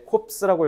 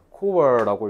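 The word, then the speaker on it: corps: established the ambulance 얘들아 이거 너네 코스라고 읽었지 이거 스가 아니라 웃기 웃기게도 qu라고 읽어야 돼요 프랑스어에 자스가 아니라 qu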